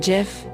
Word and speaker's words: Gef: I am Gef, it said.